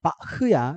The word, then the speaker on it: 바흐: 근데 이거 독일로는 바흐야. CH가 흐든 그래서 너 바는 들어봤지.